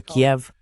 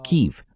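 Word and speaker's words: Kyiv: Y a pesar de lo que dijo Lindy Graham antes, su comentario, es probable que Rusia tome Kiev o KIV, como prefieras pronunciarlo. Además, no creo que vayan a detenerse hasta recuperar Odesa.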